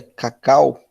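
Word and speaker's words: kcal: vezes kilocalorias que aí a mais famosa é cacau você pronuncia assim mesmo tá Cacau é um k do cal Então são kilocalorias certo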